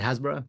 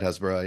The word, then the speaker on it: Hasbara: to a podcast that you did on Bad Hasbara. Did I pronounce that right? Yeah, about Hasbara, yeah, with Matt Lieb.